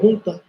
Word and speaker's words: junta: I don't know how you pronounce it in English. I think it's in Spanish we call junta. In English, I guess it's junta.